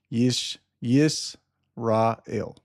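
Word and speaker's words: ישראל: So y that yod there is not a j or or an i. That's that's a y. It's a yish y not sorry that's a scene yish y rael that's how you pronounce it with the vowel points it could be it could have been yashrael or yas rael but that's what it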